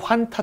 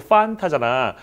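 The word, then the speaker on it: Fanta: 우리 히읗 발음 하면 안 된다고 그러죠, F 발음을. 우리 친구 환타 틀렸잖아. 우리 친구 판타잖아.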